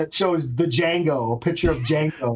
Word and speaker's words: Django: And then it shows a picture of Django. The D is silent.